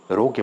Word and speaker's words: rho: ঠিক আছে, তাহলে রোকে বলা হয় রোধাঙ্ক। এর উচ্চারণটা কি বললাম? রো, RHO, এটা একটা গ্রিক লেটার।